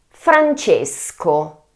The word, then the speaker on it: Francesco: Second name: Francesco. Francesco. Beware that C + E in Italian it's , .